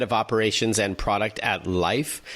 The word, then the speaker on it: Lyf: operations and product at life which is spelled l-y-f this is considered the